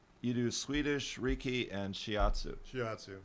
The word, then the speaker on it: Shiatsu: not the little Japanese dog. It's not Shih Tzu. It's Shiatsu. Can be.